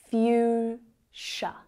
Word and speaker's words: fuchsia: Fuchsia.